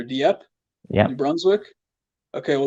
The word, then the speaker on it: Dieppe: I think it's pronounced Deep or Dieppe, New Yep.